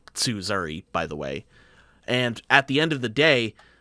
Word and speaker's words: Tsuzuri: It's pronounced Tsuzuri, by the way.